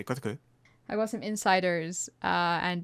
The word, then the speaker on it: Kotaku: Yeah, well, apparently, is it Kotaku, is how you pronounce it. It's got some insiders. Yeah, it's called Kotaku, but I prefer to say Kotaku.